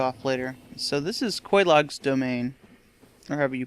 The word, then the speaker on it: Quelaag: So this is Quelaag's domain, or however you pronounce that. I think you pronounce it Quelaag because there's somebody who says it in the game.